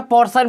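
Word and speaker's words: portion: अब यहां से देखिए ये क्या हो गया, देखिएगा टी आई है, टी के बाद आई है और ओ आ गया, यानी ये क्या पढ़ा गया? पोर्शन पढ़ा गया।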